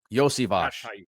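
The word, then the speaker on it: Iosivas: Can I uh get it right and say Andre Yosvivos? Yosvage. Yeah, that's how you pronounce it.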